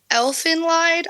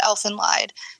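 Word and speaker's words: Elfen Lied: Um, definitely Elfin Lied. I don't know if I'm pronouncing that right, but I believe it's pronounced Elf and Lied and Hellg Girl.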